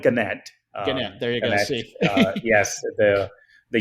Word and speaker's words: Gannett: even correct me there is it ganette organic okay so which one we call it ganette there you go yes